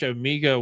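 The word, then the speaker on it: Omega: I'm a true Bond fan, so I pronounce it Omeega. It's the Q branch Omeega watch trailer.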